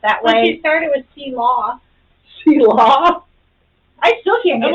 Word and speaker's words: Selah: It's spelled that Well, she way. started with C-Law. Selah.